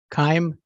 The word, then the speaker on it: Keim: you uh my name is Steve Keim s-t-e-v-e kaim K as in Kevin i h m is